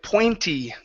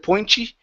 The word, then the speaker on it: pointy: here is the word pointy give me a good e sound here instead of pointy it's pointy give me